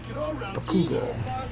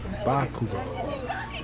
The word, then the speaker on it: Bakugo: They put an emphasis on the wrong syllable. Bakugo. Bakugo. Kugo.